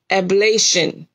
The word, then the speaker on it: oblation: Ablation. I'm looking at the way it's telling me to pronounce it. Right here, and it's ablation.